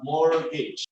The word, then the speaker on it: mortgage: We don't pronounce the T. Okay, so it's not mort, but mortgage.